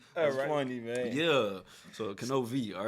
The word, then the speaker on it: Knovie: In other words, with my name, the K is pronounced, so K-N, and then V as in Victor.